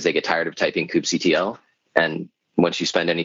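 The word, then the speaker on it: kubectl: do you pronounce it I say Coop CTL okay okay cuddle cuddle just makes me think of cuttlefish and it's kubernetes and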